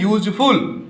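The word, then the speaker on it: useful: और जब इसे आप बोल रहे हैं यूजफुल, क्या बोल रहे हैं, यूजफुल, तो य हो रहा है, य उच्चारण होने के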